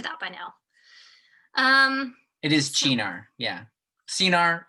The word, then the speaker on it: Cynar: It is Chinar, yeah. Cinar, it's the same. It's pronounced Right. Chinar because it's Yeah, oh yeah, Italian.